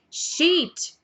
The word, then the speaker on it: sheet: e shit shit shit então se você reparar bem sheet a primeira palavra tem uma prolongação na pronúncia do I Então she já a outra não shit é claro que numa